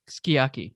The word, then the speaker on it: sukiyaki: So in same for sukiyaki, it's just pronounced skiyaki.